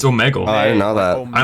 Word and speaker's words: Omegle: to properly pronounce omegle i was like saying omegle up until that point and i'm like wait it's not pronounced it's omegle it's all megal i don't know that